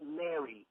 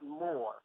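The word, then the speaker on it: mr: yes yes you're wrong m R is pronounced Mary not more you can't make a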